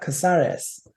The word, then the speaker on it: Casares: Casera Caseras Caser Casares. I say his last name.